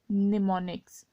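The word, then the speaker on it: mnemonics: These symbols are called निमोनिक्स, ठीक है, am silent हो जाएगा, निमोनिक्स।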